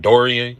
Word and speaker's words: Dorian: Philly Smith I ain't going to try to pronounce his first name Dorian yeah that's how you pron Yeah they should